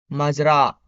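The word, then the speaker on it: مزرعة: We have farm, which is pronounced Mazra.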